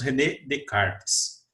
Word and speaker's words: René Descartes: filósofo chamado rené descartes escreve rené descartes mas nós pronunciamos redecars ele carpes é um